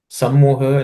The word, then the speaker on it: सम्मोहः: Sammoha, no aspiration.